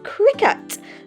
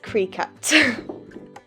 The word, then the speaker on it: Cricut: occasionally in this video the right way to pronounce it is cricket not cree cut okay so now